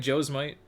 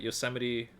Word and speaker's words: Yosemite: was about to happen so you say it like joe's might but yosemite like the same yeah it's 70 cent yeah it's a proper